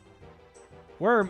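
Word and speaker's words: wyrm: Worm is pronounced the same as worm.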